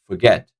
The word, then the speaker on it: forget: the stress on and the last word is forget forget I'm not saying forget forget no the right way of saying is forget forget so second syllable is taking the stress on that's it so now